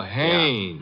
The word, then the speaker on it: Haynes: warf fishing so I you say his name is hannes h a i n e s oh oh haes yeah do you know